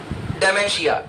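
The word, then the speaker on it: dementia: एन टी आई डेशिया इसमें टी को silent वड केडिंग बोला जाता है तो प्रॉपर वर्ड हो जाएगा डेशिया डी एम ई एन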